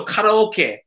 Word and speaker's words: karaoke: And anything in Japanese with an E is always e. So karaoke, boke, Pokemon, take, emoji, anything with an E in Japanese is always pronounced e.